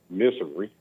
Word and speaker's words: Missouri: Hey, Missouri. Missouri. And I like your Like- pronunciation. That's a sophisticated pronunciation. It's cool. Okay, well, some people say misery.